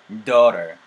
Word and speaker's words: daughter: daughter 맞는데 내가 gh는 발음에서 관여하지 않는다 그랬어요. 그러면 이렇게 뿅 하고 지워볼게요. 여러분들은 손가락으로 이렇게 한번 가려보세요. 그럼 어떻게 돼요? 모음 사운드 사이에서 t 사운드가 굴려질 수 있어요. 그러면은 daughter, daughter, daughter, daughter, daughter, daughter